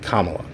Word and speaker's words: Kamala: Harris Kamala Harris let me get it right Kamala he can't say it right Biden can't [